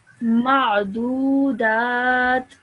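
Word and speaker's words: معدودات: Ma'dudat. Ma'dudat. Okay, make sure you say that ayn sound.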